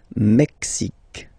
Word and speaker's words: Mexique: Le Mexique, le Mexique. X, X, Mexique. It's really the X. Huh? Le Mexique. And then remember this Q-U-E, it's only K, K.